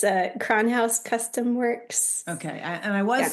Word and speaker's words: Kronhaus: Lindsey, I know that you are on Facebook and Instagram, and I am going to have you pronounce your business name. It's Kronhouse Custom Works.